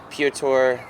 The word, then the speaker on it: Piotr: I watched, like, you watch James Dean and you watch Piotr. Is that how I say his name? Piotr, yeah.